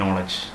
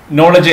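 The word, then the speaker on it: knowledge: ആദ്യം നോളജ് എന്നാണ് നമ്മൾ പലപ്പോഴും വായിക്കാറുള്ളത്. അതിൻ്റെ ഉച്ചാരണം നോളിജ് എന്നാണ്.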